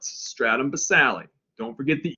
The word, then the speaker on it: basale: all right the stratum basale i say basale because this yes the e is silent but i say it so you know how to spell it stratum basale don't forget the e